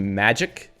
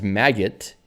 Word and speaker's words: Magit: Well, if you don't know it's supposed to be magic, then you won't know. I thought it was Magit at first, and then I thought it was Maggot because of Git. It turns out it's Magit.